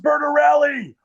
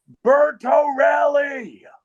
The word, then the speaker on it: Bertorelli: And then if I'm a real dick about it, I'll be like, "It's pronounced Berntoelli." Bertoelli.